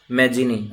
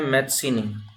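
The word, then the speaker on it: Mazzini: हिंदी में प्रोनाउंसिएशन इसका है जुसेपे मैजिनी, या इसका नाम प्रोनाउंस किया जाता है मैत्सिनी, इसके नेम को प्रोनाउंस किया जाता है जुसेपे मैत्सिनी के नाम से।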